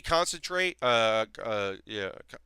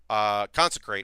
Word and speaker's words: Consecrate: Like a quality used to be 2 mana, it's gonna be 4 mana because a quality concentrate, consecrate, not concentrate, quality concentrate or consecrate. I keep saying it wrong.